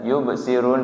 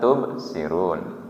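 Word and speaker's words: يبصرون: Kadang ada yang ta dibacanya ya. Harusnya yubsirun dibaca tubsirun. Berarti harus diperbaiki.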